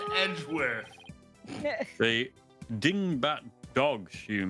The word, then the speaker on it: Edgeworth: spell the whole unorth worth worth now it's pronounced Edgeworth the ding bat dogs you mentioned wouldn't happen